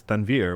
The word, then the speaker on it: Tanvir: My wife says Tanvir, which is how you actually pronounce my name, is the best way.